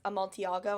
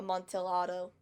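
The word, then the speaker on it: Amontillado: uh it's spelled like that even though it's pronounced a montiago and not a montel auto i don't know why literature's weird i'm neither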